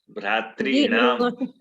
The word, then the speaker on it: भ्रातॄणाम: नाम, भ्रातॄणाम। प्रणाम वाला, नाम। भ्रातॄणाम, जब बोलते हैं तो हाँ। जीभ जा करके मूर्धा में ऊपर ठेक जाएगा, ऊपर ऊपर।